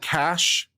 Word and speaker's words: cache: quicker from a different isn't cash the more typical pronounciation someone's been saying it wrong all this time I have a computer science degree I was pretty sure it was Cash not cach a lord different Source